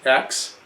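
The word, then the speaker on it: Aix: 8 X which is the name of the town is pronounced X Rose a it runs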